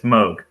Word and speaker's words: Moog: Yeah, it's Moog. That would be Moog then. Why would it be Moog if his name is Moog? Well, because it's spelled Moog, and you just want to say Moog. It's fun. It's more fun to say Moog, but it's wrong.